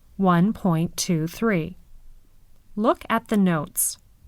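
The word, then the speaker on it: nought: decimal numbers let's listen in decimal fractions an O has two names if it comes before the decimal point it's called not after the point it's pronounced o numbers before the decimal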